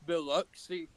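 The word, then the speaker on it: Biloxi: You called it Beluxy. Yeah. It's No, it's Beluxy.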